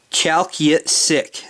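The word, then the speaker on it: Chalkyitsik: it sounds like an indian name uh obviously chalky sick chalky sick that's what it is up the up the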